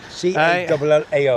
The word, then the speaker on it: Callao: C-A-L-L-A-O. I'm just going to call it the way I call it, Callao Salvaje. That's how I pronounce it. It's close enough.